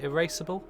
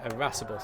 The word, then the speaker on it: irascible: Erasable? Is it erasable? Is that how you pronounce it? Erasable, Sap? Irascible.